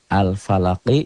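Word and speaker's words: الفلق: Al-falaqi, jadi qalqalah bukan. Al-falaqi. Kapan jadi qalqalah? Kalau berhenti membacanya. Al-falaq. Al-falaq.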